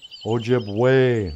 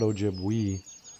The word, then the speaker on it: Ojibwe: up here and go it's pronounced ojib way not ojibwi yeah oh two eyes